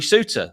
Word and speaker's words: Souttar: Harry Souttar, which sort of rhymes with Vinny Souza, looked extremely un-Harry Souttar-like in that match against Coventry City.